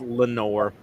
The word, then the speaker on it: Leonore: I think it's actually pronounced Lenore. Lenore. Yeah. Oh. Lenore. All right. I know it does look like Leonore at first, but I think it's just Lenore.